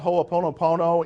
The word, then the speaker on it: Ho'oponopono: do you spell it ho o po no PO no every syllable gets written but you don't need